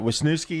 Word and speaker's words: Wisniewski: Let's talk about, I want to say it right, Wisniewski, is that how you say it? Yes.